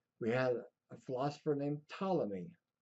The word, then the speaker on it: Ptolemy: Now, way back when, in the early Greeks, we had a philosopher named Ptolemy. That P is silent. Ptolemy had a very complicated system for how the universe and the solar system worked.